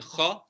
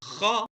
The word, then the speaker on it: خ: And then kha is pronounced from the top part of the throat. You scrape it a bit.